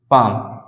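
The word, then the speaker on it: palm: माध्यम से समझते हैं फॉर एग्जांपल जैसे मैंने कहा पाम पी ए एल एम पाम पाम मीस क्या होता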